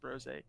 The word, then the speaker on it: Brose: It's pronounced Brose. It's like Jose with a BR, But other than that, I am a Twitch streamer.